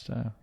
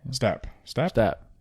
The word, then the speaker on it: Stapp: Yeah, Scott Staff. Stapp. Stapp. I think it's spelt like staff, like PH, or no, I think it's 2 P's. Yeah, it's 2 P's, Scott Stapp.